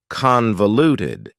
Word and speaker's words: convoluted: have for you is convoluted convoluted also has four syllables and the stress is on the first syllable convoluted that second syllable again has that schah sound that reduced vowel sound uh convoluted convoluted if